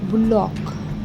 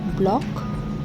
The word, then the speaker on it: bullock: Children, here in the sentence the word bullock, bullock. It should be pronounced as bullock, not block, bullock.